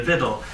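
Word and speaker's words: victual: from um so the viddle um just in case you were wondering you don't pronounce the c um it's there but just ignore it um there's I've often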